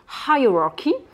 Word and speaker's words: hierarchy: que j'évoque dans une autre vidéo qu'on dit hierarchy hein donc là vous allez le rentrer sous